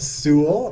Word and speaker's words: Sewell: No, I typed Sewell, which rhymes with rule, but it's probably not comprehensible to the man on the other end of the line.